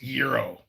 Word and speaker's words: gyro: mean a gyro joe it is pronounced gyro gyro spells gyro bob i don't care what mammal talk you speak that's that's gyro anyway however you pronounce